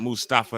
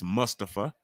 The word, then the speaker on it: Mustafa: please be respectful and say his name correctly let's not Mustafa it's Mustafa The Miz is scared